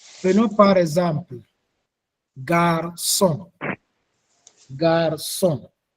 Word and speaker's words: garçon: Prenons par exemple garçon. Garçon. Dans le mot garçon, nous avons deux syllabes. Nous avons gare et son.